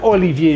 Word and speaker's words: Olivier: Dibaca Olivier Giroud karena alfabet V itu dibacanya V.